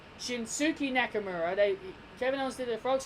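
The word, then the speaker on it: Shinsuke Nakamura: Shinsuke II Nakamura no I'm not pronouncing it like the Americans dies before you get pissed at me she Suki Nakamura they gemenon see the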